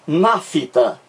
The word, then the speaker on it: nafta: Quem pronuncia nafta, parece que surge um I entre o F e o T. Pronuncia aí, ó. Nafta, nafta. Parece que existe um I aqui. Só que não existe esse I. É mera impressão nossa. Não existe na fonia e não existe na escrita.